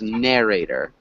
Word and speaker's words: narrator: sorry again with narrator that's the second or the first syllable that's emphasized so it's narrator okay narrate narrator yeah